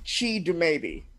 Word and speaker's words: Chidumebi: cannot let me know it's pronounced she do maybe she made it great